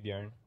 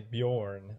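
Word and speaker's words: Björn: word letter I mean usually people say Bjorn like an O but it's a uh like yarn to put up one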